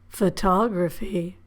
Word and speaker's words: photography: But again, we stress the syllable or we emphasize the vowel in the syllable before graphy. Geography. Biography. Photography.